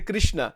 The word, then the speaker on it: Krishna: Bhagwan ko, it doesn't, because people in North India say Krishna. In Gujarat, they say Krishna. The actual pronunciation is Krishna.